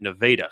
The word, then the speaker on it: Nevada: They have what basically is the state of Nevada. They pronounce it Nevada.